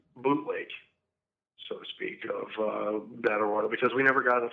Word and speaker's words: Battle Royale: It's from Japan, and it's Battle Royal, or Battle Royale, as some people pronounce it with the E at the end.